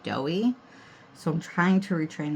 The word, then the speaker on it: Doi: going up with glitter in my head I'd been pronouncing this as doy but then I saw on sweetie nail they were calling it doughy so I'm trying to